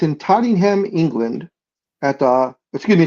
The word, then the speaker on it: Tottenham: Yeah, because I know it says it's in Tottenham, England at the Excuse me. It's in London, England at the Todd Tottenham Hotspur Stadium. Tottenham, not Tottingham. Tottenham.